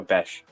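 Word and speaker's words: Bech: Or Beck? Is it Beck or Bes? How do you pronounce his last name? Excuse me. Jack Bash. Is it Beck? Is it Bes? It is Bash, right? the ch.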